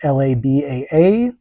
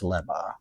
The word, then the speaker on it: Labaa: I spell it Labaa in my document, but a single A is two A's is so I always make the mistake in my head of pronouncing it Laba, but it's Leba. All right, Aldocia.